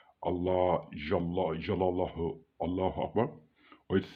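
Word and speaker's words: الله جل جلاله: That is the name of Allah, which says it's pronounced Allah Jalla Jalalahu Allahu Akbar, or it says Allah Jalla Jalalahu.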